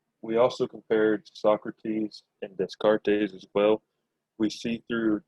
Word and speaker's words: Descartes: Okay, so when you, it's really easy when you pronounce Descartes, just don't pronounce the S's and you'll be fine. Just ignore the S's in the word, then you'll be cool.